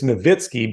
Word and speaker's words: Nowitzki: something like that like is it Dirk Nowitzki or is a Dirk Nowitzki it's it's novitsky but he just kind